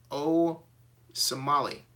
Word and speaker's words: Osemele: says it's a mouth it's pronounced Tao I'm getting lessons from the comments section it says Mix Master says it's pronounced oh Somali no Somali got it can let you O